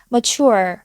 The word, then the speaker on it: mature: 어떻게 발음할 수 있을까요 ure이라고 발음하시는 분들이 많은데요 근데 발음기호를 보면이를 거꾸로 뒤집어 놓은듯한 슈아 발음기호가 있어요 그래서 우리는 mature mature 이런 식으로 발음을 해주셔야 돼요 바른 공부할 때 팁